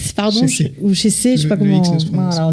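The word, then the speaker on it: Chessex: Vous avez parlé de Jacques Chessec, pardon, ou Chessé, je sais pas comment. Alors le X ne se prononce pas en Suisse.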